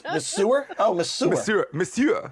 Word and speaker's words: monsieur: see if we know there is no h in there it's misua the sewer oh monsieur how do they say